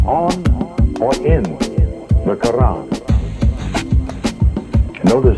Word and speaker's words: Quran: on or in the Quran. Notice how I pronounce that with the flavor of an Arabic intent. Notice how I pronounce the Koran for the Moorish Science Temple.